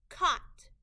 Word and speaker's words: caught: Caught. K-A-T. Caught. The A-U-G-H is a part of the word we need to remember by heart. It's making a short O sound.